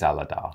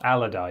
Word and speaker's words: Aladar: I had to Google how to pronounce it because I was like, that could be pronounced any number of ways. I think it's Aladar. Aladar, yes.